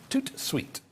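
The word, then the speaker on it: tout de suite: take care of you toot sweet that's how you say it in french i think okay so here's how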